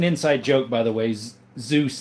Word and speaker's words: Zeus: Zeus, that's how he pronounces his name, like the Greek god.